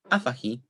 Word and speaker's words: afahi: penultimate syllable by default, and 7a afahi, where initial stress is preserved.